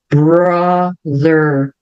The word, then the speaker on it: brother: older brother older brother Então veja como os R são sempre bem Enrolados lembrando Independente se eles estiverem no final no meio ou no início de uma palavra sempre vai ser figured brother frases curtas onde o